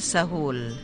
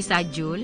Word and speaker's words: Sahul: So, You pronounce your family name Sahul, hindi Sajul? Hindi, Sahul. Okay, Sahul S-A-J. Masahul. U-L. S-A-J-U-L. Okay. Says yung teacher ko nung ako'y college, ang tawag sa akin ni Sajul. Pero we pronounce it Sahul.